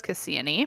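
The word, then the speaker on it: Kassiani: So, I will be calling her Cassiani and not Cassia like her name would suggest, the spelling would suggest.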